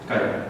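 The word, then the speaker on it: χ: कहते हैं कि कई जगह x कह देते हैं, लेकिन इसका जो प्रोनाउंसिएशन है वो क्या है, काल, ठीक है।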